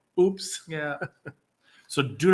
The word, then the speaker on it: UPS: No, but UPS in Mexico is pronounced oops.